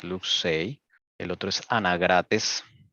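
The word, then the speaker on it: Luxeuil: Se pronuncia Luxier. Oh, perdón, Luxey. Esto es francés. Luxey.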